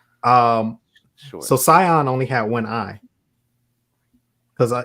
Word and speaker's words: Sion: So the Eye of Sion is also another KOTOR reference, because Darth Sion, and it's spelled the same way. It's Sion.